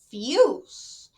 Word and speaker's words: fuse: It has an E at the end. Therefore, the word is pronounced as fuse. If it didn't have the E at the end, the word would sound fuss.